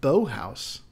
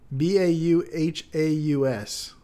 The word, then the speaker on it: Bauhaus: No, this is pronounced bow house. Bauhaus. Oh, Bauhaus, like a German thing.